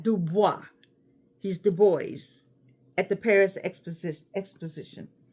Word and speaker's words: Du Bois: web the boys and by the way it's the boys that's how it's pronounced we know that baah is a French word for wood but he's not du he's the boys at the Paris Expos Exposition now I did